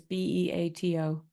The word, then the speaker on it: Beato: It's spelled Gioia, I think. And Rick Beato is Beato.